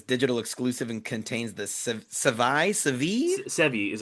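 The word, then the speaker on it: Sevii: It's described as saying this digital exclusive and contains the Sevi is how I always pronounce Sevi Sevi.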